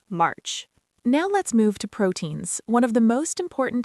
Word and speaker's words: protein: First, protein. It's pronounced protein with the stress on the first syllable.